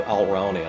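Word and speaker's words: Alraune: in this case and that's the story of Alranian. I know the first time I told you this uh I ought to spell it cuz it's hard to figure out my pronunciation.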